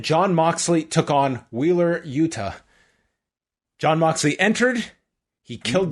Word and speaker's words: Yuta: Do you feel the like when you see Yuta, it's a hard T rather than the soft T like in Toronto? I say Yuta. Yuta. What's a soft T? What's a soft T? Well, like Yuta, like pronouncing like a D. Almost. Oh, Yuta. Yeah, I might say too fast and revert to D.